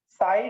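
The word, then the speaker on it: psi: दूसरा देखो, साई स्क्वायर जो है, साई square, square of साई, square of साई, यहाँ पे पी साइलेंट है भाई, इसका रियलिटी में इसका has physical significance, has physical significance, इसका रियलिटी में सिग्निफिकेंस है।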